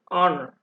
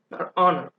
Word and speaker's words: honor: with words like power honor the h is silent and you hear a vowel sound at the beginning you do not hear